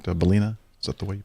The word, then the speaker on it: Ballina: Is that right, Ballina? Is that the way you pronounce that?